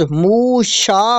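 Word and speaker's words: משה: شریعت کے ہوتے ہیں، اور اس زبان میں موسیٰ کا تلفظ موشا ہوتا ہے۔ آپ کی پیدائش کے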